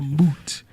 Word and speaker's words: moot: Think of boot, but replace the B with the M. A moot.